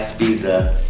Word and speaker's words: Spezia: I'm Alexander Lancaster over here at Two Wool Studio with Matt Spezia. Did I say it right that time? Yeah, bro, you got you.